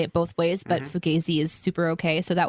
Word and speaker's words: Fugazi: I wanted to mention that I learned that Fugazi can be pronounced Fugazi and Fugazi.